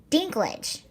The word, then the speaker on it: Dinklage: Dinklage, okay.